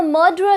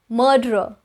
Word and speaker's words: murderer: Quick, we have a murderer loose on number 18. Murderer. Murderer. A lot of you say murderer, so that would be incorrect. It's murderer, murderer, murderer.